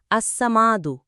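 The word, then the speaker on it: الصمد: 68 বাংলা উচ্চারণ আসসামাদু অর্থাৎ অমুখাপেক্ষী ফজিলত।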